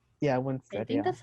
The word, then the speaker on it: Winstead: And then the actress who plays her is Elizabeth Weinstead. Yeah, I Winstead.